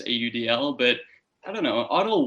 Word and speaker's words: AUDL: the udl i don't i do not say audible by the way i always spell it out with its letters audl but i don't know